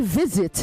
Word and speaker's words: visit: hesitant hesitant okay hesitant you say visit not visit visit it is a z not a okay visit you say